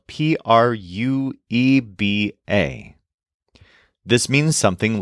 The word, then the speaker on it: prueba: When it's pronounced quickly, the U almost seems to disappear, although it will always be slightly there.